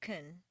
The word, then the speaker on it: can: between can and can't reduce the positive can to kun and stress the verb make the negative cant